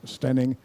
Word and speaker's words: Staining: This is not far from where I live, a place called, it's spelt Staining, but it's pronounced Stenning, and it has this beautiful Romanesque church in its center.